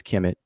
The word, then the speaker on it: Kemet: These 5 glyphs is transliterated as KMT. We pronounce it as Kemet, and it means the nation of the riparian country.